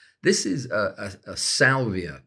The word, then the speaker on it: Salvia: is a a a Salvia Leaf which I always want to pronounce saliva which is uh which is wrong and uh it's it's